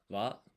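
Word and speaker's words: は: This is ha, but or this is the hiragana for ha, but it's pronounced wa here because it's the wa particle.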